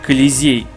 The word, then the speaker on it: Колизей: Это произносится как Колизей, что является амфитеатром, что был построен в Древнем Риме.